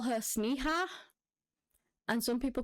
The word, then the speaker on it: Sneha: confirm how it was how her name is pronounced but it is spelled s-n-e-h-a so yeah sneha and Phillips was born